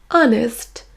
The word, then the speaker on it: honest: Il existe malgré tout quelques rares exceptions comme les mots our, honest, honor.